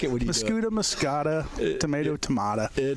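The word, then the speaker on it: Muscoda: Is that right? Muskota? It's Muscuda. Yeah. See, I screwed up again. Muscuda. But we like it. We like it when you do Muscuda, Muscata, tomato, tomato.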